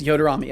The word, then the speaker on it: Yoderamy: So it's Yoder Amy or Amy. I imagine it's Amy. Yoderamy. Yoderami. Yes, Yoderami. Okay, gotcha.